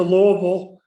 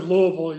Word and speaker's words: Louisville: When I went to Louisville, and I pronounced it Louisville, you notice that time. Right. I had to explain that when I came home a lot of times to North Tonawanda that Louisville meant Louisville. so they'd understand what I was saying.